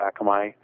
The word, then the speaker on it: Akamai: our RSS and sent it to their little Akamai. I think it's Akamai. I don't know how you pronounce it. Akamai, yes.